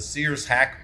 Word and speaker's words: Sears-Haack: Look up the Sears hack body shape. That's the most aerodynamic shape known to man. That's Sears, spelled like the Sears store, and hack, spelled H-A-A-C-K.